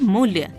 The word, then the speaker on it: मूल्य: अधिक ब देते हैं अब मूल्य अकाट्य इन शब्दों का उच्चारण करके देखिए इनमें संयुक्त अक्षर से पहले वाले अक्षर म तथा का पर जोर दिया गया है बलाघात दो प्रकार का